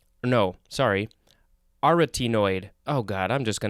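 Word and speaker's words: arytenoid: was it yesterday that i recorded these are a rutty noid no sorry aretinoid oh god i'm just going to move on it is spelled n o a-r-y-t-e-n-o-i d it is an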